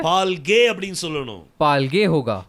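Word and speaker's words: פַּלְגֵי: அப்ப இதனுடைய உச்சரிப்பு எப்படி வரும்? तो इसका क्या अर्थ होगा? பால்கே. पालगे.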